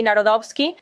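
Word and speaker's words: Nawrocki: se reunió con Carol Narodovski, si lo estoy pronunciando correctamente. Si, Narodovski.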